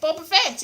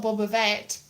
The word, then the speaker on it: Boba Fett: but that's not right because double t isn't a double d double d in honor